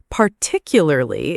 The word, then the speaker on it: particularly: Particularly is one. Many learners trip over it. Yes, too many moving parts. You can break it into parts. Par, tick, you, lur, li. Practice the stress on tick.